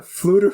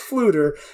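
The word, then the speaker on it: Ffleddur: But, I just wanted to mention that Fluter Flam's name is spelled F-F-L-E-W-D-D-U-R. That's Fluter, and Flam is F-F-L-A-M.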